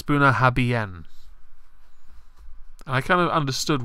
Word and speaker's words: Bunnahabhain: but a lot of my friends that drank that would be like, it's Bunnahabhain.